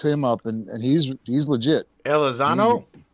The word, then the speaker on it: Elizondo: Elizondo? Elizondo, yeah.